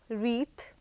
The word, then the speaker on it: wreath: you say some more words in which W is silent so I can think of wreath read that is as w r e a